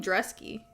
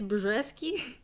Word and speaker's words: Brzeski: Why are they calling him Dresky? Apparently it's Brzeski.